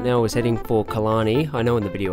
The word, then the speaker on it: Killarney: chased the storm right now was heading for Kalani I know in the video i said killiney but i didn't know how to pronounce it at the time so we popped